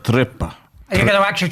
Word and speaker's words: trippa: The Italians pronounce it trippa.